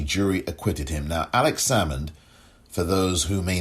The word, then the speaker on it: Salmond: scotland due to the alex salmond or alex salmond is the pronunciation s-a-l-m-o-n-d alex salmond alexander inquiry